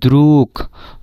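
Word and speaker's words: друг: যে ব্লাস্টের যে গে এটার উচ্চারণ কিন্তু গ এর মত হচ্ছে না এটার উচ্চারণ ক এর মতন আছে দ্রু কেন হচ্ছে এটার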